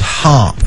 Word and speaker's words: HAARP: in the past to us is something called harp and it's spelled h a a RP lotss of people